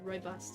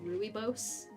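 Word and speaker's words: rooibos: doesn't know Roy boss which I've looked up how to pronounce it which is why I say it like that even though it looks like it should be said ruy Bose uh is a a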